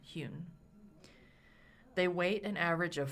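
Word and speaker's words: Huhn: And her last name is spelled H-U-H-N, Hune.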